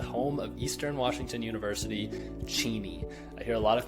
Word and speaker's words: Cheney: So if you end up checking out EWU football game, make sure you're visiting Cheney, not Cheney. Lastly, and honestly the most important, is knowing how to pronounce Spokane's nationally recognized college basketball team, Gonzaga.